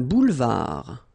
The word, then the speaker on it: boulevard: Un boulevard. Final D not pronounced.